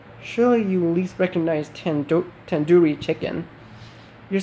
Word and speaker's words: tandoori: you least recognize 10 tandoori chicken you're saying it wrong wait really tandoori tandoori the do is isn't like door it's like doo doo head are you